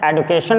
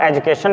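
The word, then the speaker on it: education: तो डी के बाद यू आ गया तो ज भी हो गया, और कहीं पर आप देख सकते हैं एडुकेशन भी कह सकते हैं और एजुकेशन भी पढ़ते हैं। अगर प्रोनाउंसिएशन की बात करें तो रियलिटी में जो ब्रिटिश इंग्लिश वगैरह होते हैं तो उसमें एडुकेशन बोलते हैं और हम अपने इंडिया में एजुकेशन बोलते हैं।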